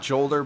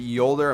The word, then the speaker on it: Jolder: i'm pretty pretty sure it's pronounced with a y not jolder but yolder i'm pretty pretty sure